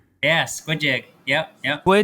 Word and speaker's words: Squi.Jig: Is that how you pronounce it? Yeah. Squid Jig.